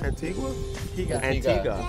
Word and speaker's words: Antigua: Antigua.